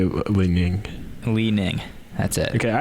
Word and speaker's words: Li-Ning: How do you say Li-Ning?